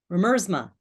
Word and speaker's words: Remersma: I always get her name wrong. Remersma.